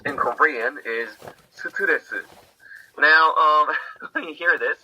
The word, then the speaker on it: 스트레스: In Korean, it's 4 syllables. 스트레스. They're all voiced.